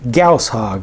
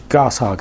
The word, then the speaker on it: Gausshog: Bloks Halo UNC attack Gus hog or gos hog however you want to pronounce it set comes with 229